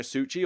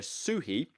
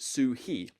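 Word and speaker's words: Suchý: his designs of Vladimir Suchi although or no Vladimir suhi apparently that's how you pronounce it uh you apparently pronounce it sue hee you don't pronounce it with a chi like CH or anything but this one point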